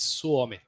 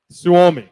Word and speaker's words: Suomi: I saying that right uh kind of it's suomi suomi suomi sui right I've always